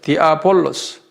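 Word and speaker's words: διάβολος: S-H-E-D, 쉐드라고 발음해요. 신명기 32장 17절. 그런데 신약에서는 그리스 말로는 디아볼로스라고 그래요. 디아볼로스.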